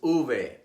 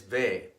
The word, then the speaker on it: uve: academic Royal Spanish Academy the word for this this letter is uve but in Latin America it is referred to as ve because the V is pronounced exactly the same as the B in Spanish V is commonly referred